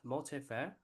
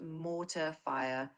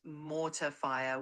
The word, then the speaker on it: mortar fire: It's pronounced mortar fire with an emphasis on the mo sound.